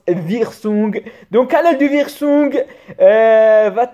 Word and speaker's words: Wirsung: Ici, la canal principale, ce qu'on appelle la canal de Wirsung, aussi appelée Wirsung, parce que W-I en allemand, elle prononce Wirsung.